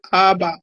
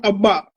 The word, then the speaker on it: ABBA: The group is called Abba, not Abba. Repeat after me. Abba.